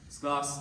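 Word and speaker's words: 's Glas: That's kind of a contraction in German, so it's short for das Gloss, or yeah.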